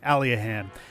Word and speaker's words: Aliahan: to the east of alahan alahan that's our that's our pronunciation officially alahan and baramos or